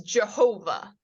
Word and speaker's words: Jehovah: pronouncing this word as Jehovah oddly enough this sound can make a y or a j sound so ja ho VA Jehovah is a is a non-word it is mispronouncing the tetragrammaton because why they did